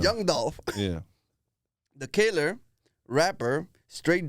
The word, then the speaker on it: Young Dolph: know John do young I'm saying it wrong you were you saying it right now sound like you saying John Young Young I mean young Dolph yeah the killer rapper